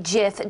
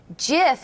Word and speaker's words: GIF: an acceptance speech, a GIF was played for the audience that read, "It's pronounced GIF, not GIF."